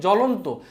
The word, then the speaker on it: জ্বলন্ত: যেমন একটা উদাহরণ দেই এখানে জ্বলন্ত। জ্বলন্ত এই যে পদটা আছে পদের প্রথমে কিন্তু এখানে ব ফলা আছে। তো ব ফলা থাকলেও যখন এটার উচ্চারণ করা হবে তখন কিন্তু এই ব ফলাটা এখানে নাই।